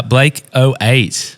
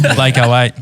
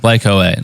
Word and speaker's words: Blake.08: names just in case people say Blake .08 and it just doesn't FL well bl8 bl8 like the 808 Dr machine so the international